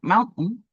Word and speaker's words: mountain: The word mountain is a trochaic foot.